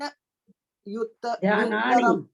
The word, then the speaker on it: ध्यानान्युत्तरम: ध्यानान ध्यानानि, युत्तरम। नहीं, ध्यानानि प्लस उच्चारण उत्तरम उच्चारण, संधि विच्छेद नहीं, और उच्चारण। ध्यानान्युत्तरम। ध्यानान्युत्तरम। ध्यानान युत्तरम। हाँ, एक ही साथ बोला जाएगा दोनों।